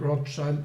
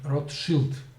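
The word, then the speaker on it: Rothschild: rod child rod child so it's not rock child it rot shield this fight should be pronounced so uh the the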